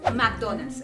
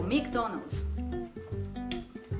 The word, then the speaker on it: McDonald's: suene a m raro McDonald's por no le preguntamos a papá Estás segura que se pronun así McDonald mcdonal Cómo dice papá McDonald's McDonald's Oh es que es que hay que decirlo más rápido McDonald's No es cierto